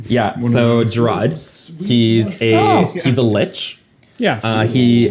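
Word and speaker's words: Jarad: it's Gerard. Okay. Or Jared, I don't know how to pronounce it.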